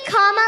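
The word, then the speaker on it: Kamala: do you pronounce it first you say comma like a comma in a sentence then you say la like la la la la la put it together and it's 1 2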